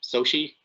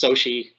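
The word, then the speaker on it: Xochitl: Her name is pronounced Sochi, because apparently there's no rules about what sounds letters make anymore. So it's pronounced Sochi Gomez, I believe.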